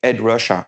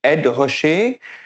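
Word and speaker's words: Ed Ruscha: by the work by Ed Russia Ed Russia sorry have to pronounce it the right way. And Ed Rasher uh Edward Rosher uh did his book exactly 10 years before know 672.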